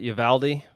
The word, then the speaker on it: Uvalde: valdez texas well i being from texas we always pronounced it yavaldi but i'm pretty sure